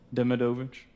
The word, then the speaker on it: Demidovich: And how do you pronounce that? Demovich.